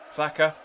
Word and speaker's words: Saka: it's not a chart it's not a silent a and it makes just how you pronounce it saka exactly with no